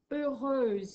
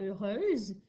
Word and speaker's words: heureuse: Toujours avec un H muet au début. E-U, R, E-U. Et mon X vient se transformer en S et j'ajoute un E. Ça fait heureuse.